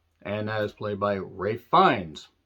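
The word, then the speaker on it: Ralph Fiennes: that is played by Ray fines I keep wanting to call him Ralph finds because that's how it's spelled Ray finds has been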